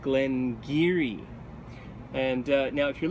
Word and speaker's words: Glen Garioch: perspective this looks like Glenn uh garok or Glenn Gario uh but in fact Glen giri is the correct pronunciation and this um this is from the Doric dialect of um uh of